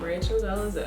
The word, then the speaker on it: Rachel Dolezal: Rachel Dolezal.